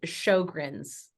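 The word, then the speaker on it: Sjögren's: rate back to a normal level okay it's Sjogren's that's it that's it thank you I don't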